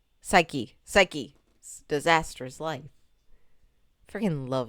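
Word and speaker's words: Saiki: And I'm like, Skye's Disastrous Life, you know, a play on the anime of Saki. I said his name wrong, didn't I? Psyche.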